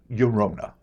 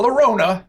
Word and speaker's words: Llorona: Not La Llorona, as I often said in my misspent youth. Llorona. Yep. I'm understanding L's and Y's slowly but surely. I change it all the time.